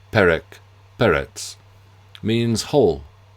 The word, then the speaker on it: Perec: is rendering in French as perk constitutes the concealment of my Jewish background through my patronm. Yet the fact that the galicization is slightly off, the rules of pronunciation would imply that the first e should bear an acute accent to give perk leaves a trace but